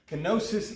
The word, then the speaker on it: kenosis: I don't think I'm actually pronouncing it right, but this is usually how we Americans pronounce it. Kenosis is a Greek term that we're just kind of transliterating into English.